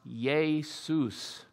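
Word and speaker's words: Ἰησοῦς: written in Greek and the word Jesus is pronounced yay Seuss but that was the Greek name for the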